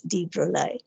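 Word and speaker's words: de Broglie: supposed to call it him call him as deep rolie then you have very interesting terms like uh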